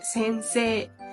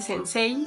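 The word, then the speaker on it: 先生: cómo es decir que normalmente cuando hay una I después de una e es como para alargar la e no no se pronuncia la i sino se alarga la e por ejemplo la palabra más conocida que es sensee no no se dice sensei sino sense y bueno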